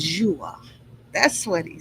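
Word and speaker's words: João: Oh, here it's going to tell me how to pronounce it. Let's see. Joa. That's what it is.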